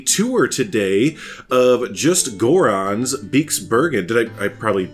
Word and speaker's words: Beekse Bergen: to do a tour today of Just Goran's Beekse Bergen. Did I I probably mispronounce it. How do you pronounce it? Tell me. Beekse Bergen. Beekse Bergen.